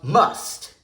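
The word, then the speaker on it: musth: what's known as a must, Whoa. a fit of rage that occurs in elephants at the time of puberty. Actually, it's pronounced must.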